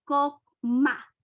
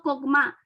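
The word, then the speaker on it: חכמה: una información en hebreo la palabra sabiduría se pronuncia coma en hebreo cogman y Qué significa la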